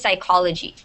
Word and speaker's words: psychology: Okay, so this is psychology.